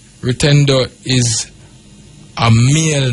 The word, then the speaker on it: Rutendo: a s you have another sh name rutendo rutendo is a male name you know and it means Faith it's spelled r u t e n d o